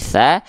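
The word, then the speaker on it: ث: th D koho Nah kalau huruf berharakat fathah terdengarnya tidak clear A tapi condong pada vokal o maka dia termasuk ke dalam huruf yang pelafalannya adalah tebal ya maka di sini huruf tasa karena dia dibaca dengan vokal a tidak jadi O tidak to tapi tsa maka huruf tsa bukan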